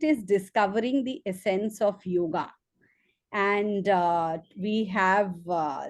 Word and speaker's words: yog: you talk to us about the essence of yog as he calls it and as it is rightly pronounced should be rightly pronounced Sandeep kapila is